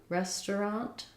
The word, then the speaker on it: restaurant: so restaurant restaurant um more often though we'll do two syllables rather than three you hear me playing around with that where it sounds more like restaurant um so we're going to the restaurant I'll meet you at the restaurant um this ER Middle Earth syllable gets so fast that we just go right to a truck instead of tur restaurant or restaurant um yeah it's kind